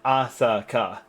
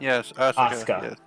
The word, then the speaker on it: Asaka: why that's that's why your name is pronounced Asaka not Yesa yeah Asaka I mean